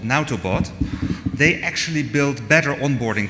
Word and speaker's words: Nautobot: developer, and there's another fork of Netbox called Nautobot.